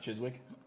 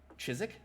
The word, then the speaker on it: Chiswick: the place for the is it not chiswick damn it i thought i had that silent w silent w yeah chizik yeah huh i don't